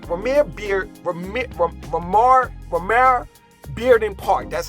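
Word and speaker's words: Romare Bearden: or Vermeer Park premiere beard remit from Lamar Romero Bearden park that's how you pronounce it say if you're under 30 years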